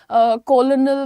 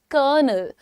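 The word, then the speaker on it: colonel: कोई इसको बोलता है कोलोनल तो कोई कुछ बोलता है। लेकिन आपको मालूम है कि आर्मी की रैंक होती है कर्नल। कर्नल। करनल।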